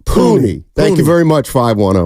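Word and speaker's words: Puni: you're being uh honest 510 says it's pronounced puny it's an Islander name puny thank you very much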